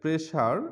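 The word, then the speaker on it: pressure: হচ্ছে double S ইউ আরই হলে এস এর উচ্চারণ স হবে যেমন প্রেশার প্রেশা প্রেশার আমরা সবাই বলি এটা প্রেসার বা প্রেশা প্রেশার যেমন এখন আমরা যখন কথা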